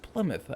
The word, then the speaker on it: Plymouth: my get supply mouthing he's like no it's Plymouth I remember always asking him which would know